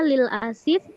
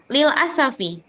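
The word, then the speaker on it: للأسف: Ustazah Afwan bacanya lil asif atau lil asafi? Lil asafi, lil asafi. Kalau asif nanti dia pakai yang apa namanya, asifun. Kalau ini lil asafi.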